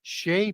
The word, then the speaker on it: Sidhe: but the giant fairies, which are the Sheh people, Sidhe, the Sidhe, the She. It's pronounced 1,000 different ways.